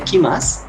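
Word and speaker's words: 来ます: Este kimas, este primer kanji, se pronunciaría kimas en este caso.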